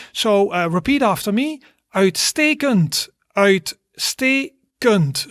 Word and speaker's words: Uitstekend: Uitstekend. Uitstekend. So that's 3 syllables.